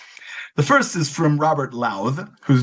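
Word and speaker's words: Lowth: The first is from Robert Louth, whose name I just learned to pronounce. According to Wikipedia, the TH is voiced, so it rhymes with mouth, the verb, not with mouth, the noun.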